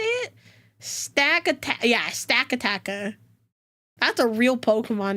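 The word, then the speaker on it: Stakataka: Yeah, Stack-a-Tacka.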